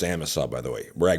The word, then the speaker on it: Amasa: But if you have a heart attack north of Amasa, it's pronounced Amasa, by the way, where I go wolf and and moose hunting.